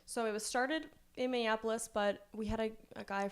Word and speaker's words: Minneapolis: Minneapolis, yes. Okay. That's one of the hardest cities for me to pronounce.